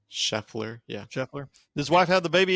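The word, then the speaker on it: Scheffler: how do you say his name shefer yeah shefer his wife have the baby yet not that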